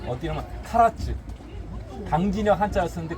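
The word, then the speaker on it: 唐津: 대표적인 게 어디냐면 카라츠. 당진역 한자를 쓰는데 그 당이면 당나라 당자인데 발음은 가라라고 그래요.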